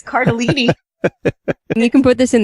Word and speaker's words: Cardellini: Lauren's having I'm the one who's mispronouncing it this week. It's Cardellini.